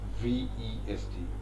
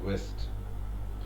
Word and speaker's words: vest: Okay, you will have to say undershirt, and in Britain you will have to say vest, V-E-S-T, vest. Don't pronounce it as west, which is the direction. West and west.